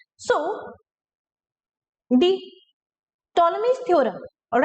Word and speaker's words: Ptolemy's: ac right now the ptolemy's theorem the p is silent here ptolemy's theorem says that in